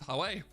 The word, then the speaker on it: Huawei: If you're from where I'm from in the UK, it's Huawei.